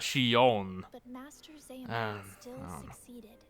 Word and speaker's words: Xion: Okay, yes, Xion. She didn't say it like she said it more like Xion, not Xion.